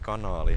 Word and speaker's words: kanaali: So the Finnish word kanaali has two A's, the double A, and the locals pronounce it with one A. So kanaali. And a lot of goose